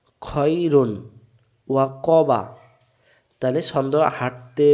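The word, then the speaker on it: خَيْرٌ: খ জবর খ, খ মিলবে এর সাথে খই, রব পেশ রু, রু মিলবে নুনের সাথে রুন, খয়রুন, খয়রুন না খাইরুন, খাইরুন বলা যাবে না, উচ্চারণ হবে খয়রুন।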